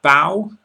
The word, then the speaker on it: bow: When you meet the Queen you bow, which again must rhyme with how.